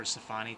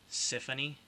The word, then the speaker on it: Sifaunie: It was a unique name, but for the name itself, the pronunciation, I think other people would pronounce it as Symphony, not the pronunciation I had intended for it.